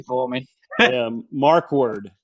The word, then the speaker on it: Markwardt: what i'm doing yeah you can uh leave the t off when you pronounce it i guess just say